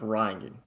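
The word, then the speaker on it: Rion: I mean, it's pronounced Ryan, but that's also pronounced like Ryan.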